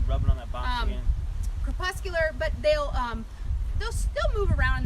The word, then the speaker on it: crepuscular: But they're crepuscular. Word of the day! Yeah, Say that again. Crepuscular. Say it with me. Crepuscular.